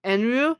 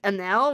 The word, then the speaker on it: Eneru: spelled the name as like Eneru because you pronounce the name as Enru, but like the Wikia spells it as Enel, which is you pronounce it like Anel, which is not right.